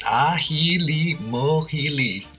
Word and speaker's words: Ajilimójili: make a Halima healy a Puerto Rican condiment pronounced aji Lee mul healy and to make this